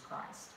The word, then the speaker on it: Christ: proper British, who said, it is Christology, not Christology. It is Christ, not Chris. You will never pronounce it that way in my classroom.